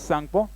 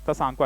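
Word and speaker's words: Tsangpo: सांगपो मतलब कि टी यहाँ लिखा हुआ है ना, टी साइलेंट रहता है, इसलिए हम क्या बोलते हैं, सांगपो बोलते हैं।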